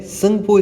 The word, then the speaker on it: Tsangpo: और वहाँ पर इसका नाम ब्रह्मपुत्रा ही होता है क्या, तो नहीं होता है, संगपो इसका नाम होता है। मतलब स्पेलिंग क्या है, TSANGPO, ये रिवर का नाम है।